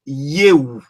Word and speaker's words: eu: On lit toutes les lettres et le U en roumain, ça se dit OU. Donc, normalement, on devait dire EU. Mais ça se prononce plutôt yeou pour dire je, tout